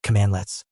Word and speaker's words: cmdlet: We're going to dive into the core philosophy behind PowerShell's comlets, pronounced commandlets, and show you how this verb noun pattern is the key to unlocking the entire PowerShell ecosystem.